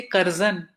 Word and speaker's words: Curzon: And therefore, when reading out the poem, I say Curzon, because it doesn't make sense when you're speaking in Urdu or Hindi to say Curzon, because it just doesn't fit with the language. You have to pronounce it as it would have been pronounced in somebody speaking in that language.